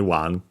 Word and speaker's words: を: that it's technically only one. Doesn't make sense based on the context, but we'll see. Then we have the object particle o, written as one, pronounced as such in careful speech and also singing.